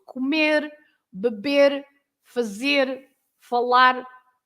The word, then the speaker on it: beber: falar or fazer, sorry, beber. Yeah. I missed the R. Beber, comer, etc. Any verb with the R at the end, you can you should pronounce as r, r.